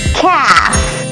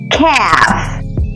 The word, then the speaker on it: calf: baby cow is a calf the L is silent calf calf great word